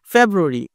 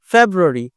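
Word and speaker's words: February: দেখ জানুয়ারি জানুয়ারি দেখো যা এইটা তোমার একটু জোরে বলতেছি জানুয়ারি একইভাবে ফেব্রুয়ারি ফেব্রুয়ারি ফে এটা হল জোরে বলতেছি ফেব্রুয়ারি ফেস মার্স এটা পুরোটাই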